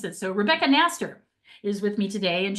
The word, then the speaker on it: Knaster: Nast with a K silent. Okay. Um that's why I asked you to pronounce it. So Rebecca Nastaster is with me today and she's in New York City.